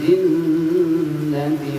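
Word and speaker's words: الْجِنَّةِ: spesial minal jin itu Di situ ada dua. Pertama di jin ditahan dan yang kedua wannas. Ya, minal jinnati was. Jelas sampai di sini? Berapa harakat? Dua harakat. Dua harakat. Iya. Tapi dibaratin N-nya kita doublein. Kalau N-nya biasanya satu kita baca, sekarang N-nya double dua.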